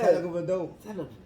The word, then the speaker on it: Tagovailoa: How do you pronounce Tua last name? People, is it? I ain't never been able to get down. Tagovailoa. Yeah, that motherfucker. That shit sound like Antetokounmpo. You said it right. Yeah. Tagovailoa.